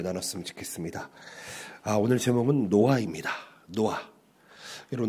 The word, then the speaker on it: 노아: 노아하고 H가 있습니다. 그래서 정확하게는 노아 흐 발음이 있습니다. 흐 발음이 노아만 아니고요. 흐 발음이 있습니다. 이런 탁성이라고 하는데 이게 이스라엘 히브리 언어에는 좀 이런 가래 끓는 소리가 좀 많이 쓰이게 됩니다.